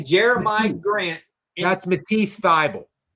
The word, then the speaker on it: Jeremiah: It's Jeremiah. It's not Jeremy.